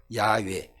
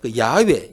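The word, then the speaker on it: 야웨: 히브리어에서이 된이 에라는이 단어를 그 자음으로만 읽으면 야외라 단어가 나오 발음이 나와요 야외 그런데 이것을 모음을 첨가해서 모음을 따라 읽으면 여호와라는게 나오는 거예요 그러니까 여호와라는 단어와 야라는 단어가 똑같은 단어를 자음만 가지고 읽으면 야외 이렇게 읽혀지는 것이고 거기에 모음을 넣어서 읽으면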